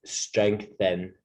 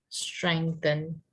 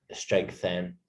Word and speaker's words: strengthen: or strengthen our bodies careful with your pronunciation of strengthen by the way you're adding like an a sound to it just strengthen strengthen thank you you're like strengthen okay eating healthy food